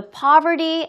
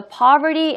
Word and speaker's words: poverty: He thought the poverty and the unemployment rate were the problem. 여러분들 혼자. 오케이, 잘했습니다. 자, 여기에서도 poverty라고 자꾸 발음하지 마시고요. poverty라고 발음해주세요. poverty.